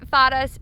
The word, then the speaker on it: Fara: We call it Fara's Trip to Fay-ra, and it's spelled obviously the same way, Fara and Fara, or Fay-ra and Fara, but we really want